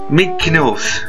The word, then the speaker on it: Mekanos: Mekanos! Yes, that's how you pronounce it.